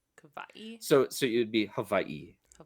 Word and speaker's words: Hawaii: Um, people, I could be conflating these two, but people who are more on the like on Kauai would use more of a V sound for that W. Hawaii.